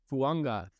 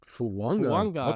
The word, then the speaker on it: Fuanga: So my number two guy is Talise Fuanga, and I have learned this pronunciation, and it looks like it's Fuaga, but his last name's actually Fuanga, which is different. Fuanga.